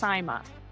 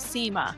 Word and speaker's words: Sima: and appearances is that my last name is pronounced Simma, not Sema.